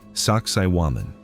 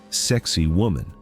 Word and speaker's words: Sacsayhuamán: In Quechua, the language of the Incas, it is pronounced approximately Sacsayhuamán.